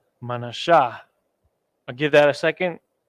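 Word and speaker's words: מנשה: word not the end ma na right and then we have the Shah and then we have the ha connect those two together the tribe of Vanessa the so-called Cubans right manasha I'll give that a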